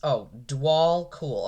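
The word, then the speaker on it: Djwhal Khul: Jewel Cool pronounce, Dwal Cool.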